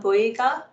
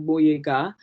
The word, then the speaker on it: Boyega: earlier, is actually John Boyega. But because obviously a lot of people can't say that Bo sound, he anglicized his name to make it easier for us to pronounce. But Boyega doesn't have any meaning in my language.